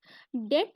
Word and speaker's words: debt: डेट, इसको कभी भी DEBT नहीं बोलना है, डेब्ट नहीं बोलना है, इसे डेट बोलना है, ये बी साइलेंट रहता है, ठीक है।